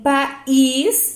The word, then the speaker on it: país: Agora, em país, ele se separa, então aqui é hiato, não é ditongo. Então, veja, país. Eu separo, tem duas sílabas.